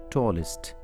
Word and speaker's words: tallest: to pronounce this est in spelling it is est but you should not say s it is ist imagine as if it were isd now listen tall taller tallest hot harder hardest we